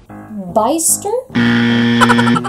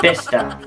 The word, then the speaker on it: Bicester: Bicester? Nope. Bicester? Nope. Bester? Bester. I don't know, maybe the sea is silent. It's Bester.